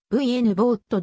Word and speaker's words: Vogt: sf 作家の一人ヴァンヴォクトの発音記号は vn ぼーっとであり g は発音しないが日本語の